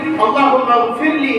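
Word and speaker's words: اللهم اغفر لي: நாம் ஓதக்கூடிய துஆ அது அரபியிலே சரியாக உச்சரித்து அல்லாஹும்ம ஃபிர்லி என்ற லைனை சரியாக உச்சரிக்க வேண்டும். அதை தமிழ் டிரான்ஸ்லிட்ரேஷன் மூலமாக தமிழில் அதை எழுதுகிற பொழுது லைன் இல்லாமல் போகிற பொழுது அந்த இடத்துல கே போட்டு எழுதுவாங்க. அப்படின்னா என்ன அர்த்தம்? அல்லாஹும்ம ஃபிர்லி, இறைவா என்ன காபிராக்கு, என் பெற்றோரை காபிராக்கு என்று அர்த்தம் மாறிவிடும்.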